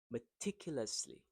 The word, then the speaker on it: meticulously: Meticulously. So the word stress here is in the second sound meticulously.